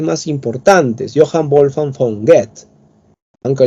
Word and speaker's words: Goethe: importantes, Johann Wolfgang von Goethe, aunque algunos prefieren llamarle Goethe, que parece que dijeras cohete, así que no es correcto, tienes que decirle Goethe.